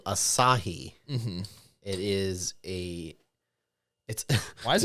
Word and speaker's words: Asahi: for a while, and I kept calling it acai because I didn't know how to pronounce it. Yep. So it's Asahi, 0%.